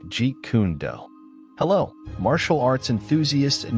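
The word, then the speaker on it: Jeet Kune Do: the Mastery of JKD pronounced like G kundo hello martial arts enthusiasts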